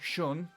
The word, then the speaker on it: Sion: Whereas if you have my name my the way that the name is spelled for me s iio o n shun if you have something